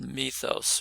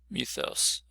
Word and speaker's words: mythos: So the word mythos or mythos, you sometimes flip back and forth, sort of more anglicized, more Greek pronunciation, gives us some ideas